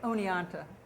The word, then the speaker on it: Oneonta: And I'm embarrassed, Oneonta, is that how you say it? Oneonta. Oneonta, thank you.